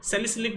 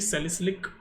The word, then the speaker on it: salicylic: और ये कॉलवेज रिएक्शन इसलिए भी इंपॉर्टेंट हो जाती है, सैलिसिलिक बोलते हैं इसको कुछ लोग, मैं इसको सैलिसाइलिक बोलता हूँ। वैसे तो प्रॉपर प्रोनाउंसिएशन है इसकी सैलिसिलिक एसिड।